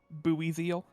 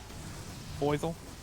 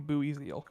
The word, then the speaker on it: Buizel: That's kind of how I pronounced it as a kid, I think. Boy. Boizel.